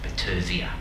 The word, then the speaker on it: Battersea: Although I'm told now Battersea, the suburb, is now to be pronounced Battersea.